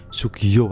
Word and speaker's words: Soegija: dan judul filmnya adalah soegija soegija kalau bacanya Ya Sugiyo ayahnya hai hai Hai